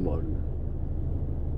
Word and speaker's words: Borge: Pero ang spelling Borge. Ang pronunciation Borga.